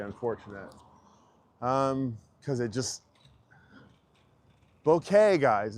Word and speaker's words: bokeh: Um cuz it just Bokeh, guys. It's bokeh. It's like bakuhotsu. It's bokeh. It's like you're it's wrong you got it wrong. Let's fix it. Tell your friends, bokeh not boca.